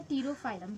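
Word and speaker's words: Pterophyllum: तो 13 से यहाँ पे है टीरोफाइलम, क्योंकि यहाँ पे पी साइलेंट है इसलिए हम इसे टीरोफाइलम बोलेंगे।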